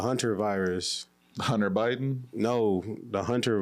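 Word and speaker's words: hantavirus: It's not the hentai virus. It's the etchy virus. It's the hunter virus.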